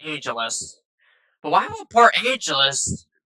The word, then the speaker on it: Port Angeles: And Santa for Angel or Angelus. I don't know why I say Angel. It's It's pronounced Angelus.